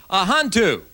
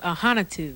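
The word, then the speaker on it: Ahanotu: First of all, on my right, we have Ahantu. How'd I do? Well, my last name's pronounced Ahanatu.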